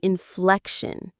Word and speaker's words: inflection: You're copying the inflection. That's our second word for this section. Inflection. Let's try it. Inflection. The stress is on that middle syllable. Fleck. Inflection.